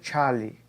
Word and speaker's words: Charles: homenagem aos químicos franceses Jack Alexandre César Charlie e Louis Joseph guilos aqui é assim que a pronúncia desses nomes então ó Charles Ele estudou